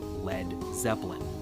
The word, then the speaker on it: Led Zeppelin: his band's new name he removed the a so it wouldn't be pronounced lead and that's where we got led zeppelin there is evidence the